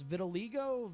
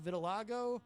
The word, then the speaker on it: vitiligo: Philbrook says and I'm never sure how to pronounce this vitiligo vitiligo is losing pigment okay Thank You Angela Vanilla's